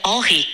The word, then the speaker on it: Henri: Henrique seria pronunciado como Henri em francês.